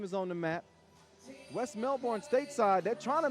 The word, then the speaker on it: Melbourne: I know y'all used to Americans saying uh Melbourne. Yeah, but I got some Australian help. Melbourne.